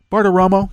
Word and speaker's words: Bartiromo: Bartiromo, there we go.